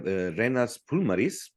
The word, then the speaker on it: Renars Purmalis: We have Renars Purmalis, a conceptual chef, which is the founder and the leader of the project Gatovo Daba.